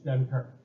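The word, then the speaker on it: Dunkirk: on the co called dunker right is how we pronounce it in English dunker and I don't know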